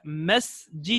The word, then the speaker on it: masjid: baton have baton had MSG didn't have Masjid on the mess G do notice I'm saying mess mess and not mesh mesh G done